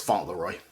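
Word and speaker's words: Fauntleroy: you say that Elijah I'm pretty sure it's font Leroy okay um age of pleasure by Janelle Monae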